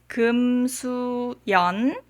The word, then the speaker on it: Yeon: The first syllable is the family name, and the next 2 syllables are the given name. My Korean name is Yeon.